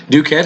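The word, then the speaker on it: ducet: Duquet has a long E that's made short by the T, but nevertheless it's from duco, ducere, meaning that it is a third conjugation.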